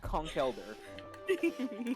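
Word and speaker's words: Conkeldurr: It's pronounced Conkelder.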